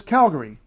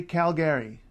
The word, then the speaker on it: Calgary: say Calgary don't say Calgary don't say Calgary G don't say Calgary don't don't it's there's no Gary sorry it's it's not it's Gary Gary left town Calgary um I have a